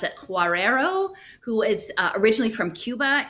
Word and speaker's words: Guerrero: And then someone else mentioned this woman, Alicia, I think you pronounce it Guerrero, who is originally from Cuba and very much involved.